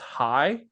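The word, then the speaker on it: hai: But the number 2, but number 2 in Vietnam is pronounced hi, kind of like like hi, right? Like you're saying hi.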